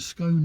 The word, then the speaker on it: scone: Um, Claire rhymes with stone. Okay. So, it's a scone. scone. It's a scone, not a scone.